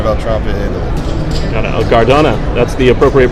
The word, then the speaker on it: Gardone: Oh, Gardona. That's the appropriate pronunciation.